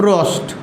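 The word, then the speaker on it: Proust: थे जिसका नाम था जोसेफ रोस्ट जोसफ रोस्ट उसमें आपका पी होता साइलेंट जोसफ रोस्ट इसका नाम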